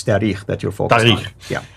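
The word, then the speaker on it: تاريخ: Now, when you said tahriq, it meant grammar. I wanted to just make sure people understood what you're trying to say. It's tarikh that you're focused on.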